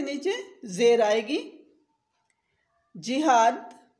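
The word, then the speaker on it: جہاد: जिहाद, ज के नीचे ज़ेर होगी, जिहाद। तिजारत, त के नीचे ज़ेर होगी।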